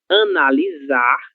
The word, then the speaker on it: analisar: apresenta em uma palavra, ela terá o mesmo som da letra Z do português, OK? E quando isso vai acontecer? Isso vai acontecer quando ela estiver sozinha, OK? Sola, no meio de duas vogais, certo? Ela precisa estar sozinha, certo? Somente uma letra S.